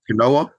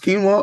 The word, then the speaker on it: quinoa: Like, I think I had a joke about quinoa, and I was pronouncing it quinoa, Yeah. and I was like, I don't know what quinoa. Oh, it's pronounced quinoa.